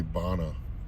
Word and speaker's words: Bonneville: How would you pronounce it? Bonneville? We say Bonna.